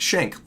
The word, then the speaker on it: Shank: preferred tag Austin shank pronounced shank as in Shanks easy enough uh I